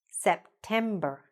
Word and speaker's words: September: September. September. Now it's not at the beginning anymore. Here, it's here in the middle.